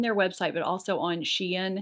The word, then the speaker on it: Shein: website but also on xi'an is how you say it shein the packaging is also